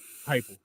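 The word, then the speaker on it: Heupel: I know that the speed had a lot to do with Hupple, however you say his name, the guy that was once part of the Hypel. Hypel. There we go.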